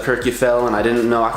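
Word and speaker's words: Kirkjufell: the pronunciations to correct I know I was saying Kurt G fell instead of Kirk you fell and I didn't know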